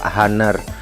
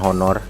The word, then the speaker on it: Honor: saat ini berjalan dengan merek hunner bacanya huner Ya Sob bukan honor Enggak cuman guru aja